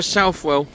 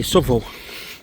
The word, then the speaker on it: Southwell: I'm from Nottingham and we say Southwell, but I know people up the country actually do say Southwell. So it depends how you say it really, depending on where you're from, I suppose.